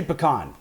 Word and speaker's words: pecan: Now I've heard you say pecan and I've heard you say pecan. Yeah. Which one is it? So what do you say? I say pecan. Okay, so 70% of Americans say pecans, according to a survey done by